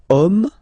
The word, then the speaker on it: homme: And then here we've got the word homme, man, okay, but then it starts with H, as in French H is not pronounced, so the first sound that we hear is O, okay, and then it will follow the same rule.